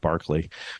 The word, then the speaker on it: Berkeley: But actually, I love going around here in Berkeley and explaining to people that Berkeley in England is pronounced Barclay, but it's Bishop Barclay, but it's Berkeley, California.